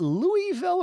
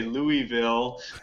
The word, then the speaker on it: Louisville: Yeah, people still say that they know that I'm not from there because I say Louisville, but apparently it's supposed to be two syllables. It's just supposed to be Louisville. Louisville.